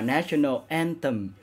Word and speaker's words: National Anthem: National Anthem, cái chữ này là cái chữ T mà để giữa hai cái lưỡi đó, nhớ phát âm cho đúng nha mọi người.